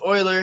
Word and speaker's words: Euler: guy's name is euler he oiler sorry see mispronounced again his name is euler he pre he uh discovered this sort of